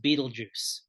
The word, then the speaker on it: Betelgeuse: it should be pronounced Beetlejuice. So and and this album came out this year. okay, So, yeah, I mean this it may not be pronounced Beetlejuice, but it's Betelgeuse.